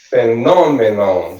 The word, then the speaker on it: phenomenon: Phenomenon, so the non é a sílaba tônica, is the stress syllable.